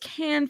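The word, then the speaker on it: Cannes: Can is pronounced Can Film Festival or with my uh NYJ axis can just like can film festival.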